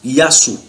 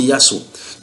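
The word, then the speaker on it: يسوع: Maintenant, les musulmans sont convaincus, les musulmans arabes prononcent ce Jésus-là par Yassou. Donc en arabe, normalement c'est Yassou.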